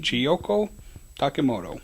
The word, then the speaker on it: Chiyoko Takemoto: pronounced the way it's spelled if they don't, if you only look. So it's not a difficult name. That's right. And Chiyoko Takemoto.